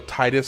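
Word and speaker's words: Tidus: under the collar about the whole Titus versus Tetus thing because, okay, sure, I personally prefer to pronounce it Titus, but I don't really have any problem with somebody who wants to call him Tetus. I mean, obviously there's ample evidence that the official pr pronunciation should be Tetus.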